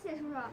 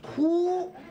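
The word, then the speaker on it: 荼: Xie, is this character pronounced as "cha"? It's "tu".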